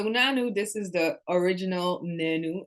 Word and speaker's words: Naanu: this is the original nanu actually the name is pronounced nenu but for easy marketing I just decided to call it Nano because I don't think